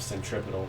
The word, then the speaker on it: centripetal: name from title uh i know this is not how you pronounce the end of centripetal but because whenever i look at this word i don't think piddle i think title um it's it's from